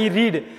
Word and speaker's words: read: எப்போ அதை சொல்லுவாங்கன்னா ரீடோட பாஸ்ட் டென்ஸ் தான் ரெட். நான் படிக்கிறேன் அப்படின்னா ஐ ரீடு, நான் படித்தேன்னா ஐ ரெட்.